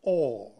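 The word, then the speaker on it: אור: This light that emanates from the absolute is called in Hebrew, Or, is written with Aleph, Vav, Resh, Aur, and is pronounced Or.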